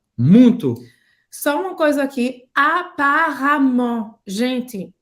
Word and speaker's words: apparemment: Só uma coisa aqui, apparemment. Gente, tem um E aqui, mas a gente vai pronunciar como A, tá? Apparemment. Apparemment.